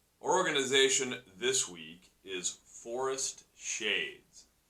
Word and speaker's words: 4est Shades: Our organization this week is Forest Shades. That is Forest, spelt with the number 4, E-S-T, Shades.